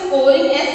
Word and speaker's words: scouring: Okay, its pronunciation is scoring, SCOURING.